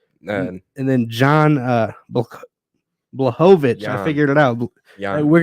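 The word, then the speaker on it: Błachowicz: it was wild none and then John uh blahovich I figured it out we're gonna have our own segment on pronouncing last names Jan bulhovich and uh Alex Pereira that was a good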